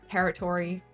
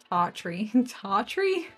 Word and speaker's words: territory: So like territory as opposed to territory. But that's a really minor difference in accent. There's definitely some places that Tartry.